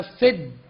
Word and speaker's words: सिद्ध: यदि बाद में जोड़ अक्षर आता है जिसको संयुक्त अक्षर कहते हैं, तो उच्चारण करते समय पहले अक्षर पर जोर दिया जाता है। उदाहरण के लिए सी शब्द है, आगे द और ध का संयोजन है। हमें जब उच्चारण करना है तो बोलना पड़ेगा सिद्ध, यानी जोर जो दिया जाएगा वो पहले शब्द पर दिया जाएगा।